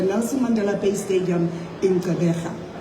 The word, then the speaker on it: Gqeberha: This historic match will take place on Saturday the 12th at the Nelson Mandela Bay Stadium in Gqeberha. Notice that I pronounced that properly.